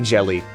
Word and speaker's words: Gelly: Oh no, okay, this one, it is pronounced jelly.